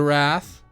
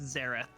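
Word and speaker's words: Xerath: a soul ban okay getting rid of the Wrath I mean slam dunk he played super well it's pronounced zareth is it is a wrath dude hold on a second hold on a second it's a wrath you're putting Zer I feel cornered I feel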